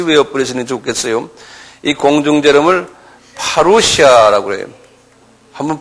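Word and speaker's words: parousia: 때문에 여러분들 같이 외어 버리시는 좋겠어요이 공중 제을 파루시아 그래요 한번 발음해 보세요 파루시아 이렇게 말해요 파루시아 이건 그냥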